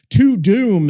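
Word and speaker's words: Tudum: It's more like a to-do, but to-doom is T-U-D-U-M is how it's spelled.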